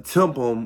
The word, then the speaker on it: TIPM: one underneath the hood they call it the temple um that's it's spelled t-i-p-m um i don't remember